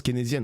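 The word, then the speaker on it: keynésienne: de mal prononcer là késien mais ça l'air dur de dire wes faut que je pose la question pas forcément Ça se prononce kénésienne.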